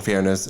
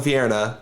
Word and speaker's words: Fierna: Belial and Fairness and Phlegathos. Enchantment. Didn't sound like English, but okay. Yep. It's because it doesn't. Phlegathos, the realm. Belial and Fierna, the two archdevils that rule that realm.